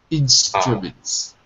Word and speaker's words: instruments: yeah it's better so it looks like a u but it's not pronounced like a u it's pronounced like an uh instra instruments instrument perfect perfect very